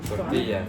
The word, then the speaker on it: tortilla: En fait, on ne prononce pas le « la », on dit « ya » . Oui. « Tortiyya ».